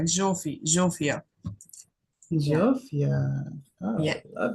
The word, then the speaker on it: Zsófia: It's Sofia. I am from Hungary, and there it sounds like Zsófia. Yeah, Zsófia. yeah, Oh, love it. I Zsófia. like it. Call me Zsófia.